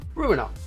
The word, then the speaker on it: Ruiner: It rhymes with what I exactly say to your girlfriend last week. You know the term. I'm gonna ruin her. Get it? Ruin. Because the game's called Ruin. Ruiner is a top-down shooter